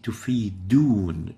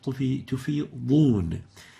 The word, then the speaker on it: تفيضون: They would say تفيدون instead of تفيضون. And actually تفيدون has a totally different meaning, and it's a very obvious lahn. So the right way of pronouncing this is تفيضون.